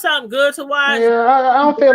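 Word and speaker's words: Adú: But it's Yeah, called I Do. It's spelled ADU.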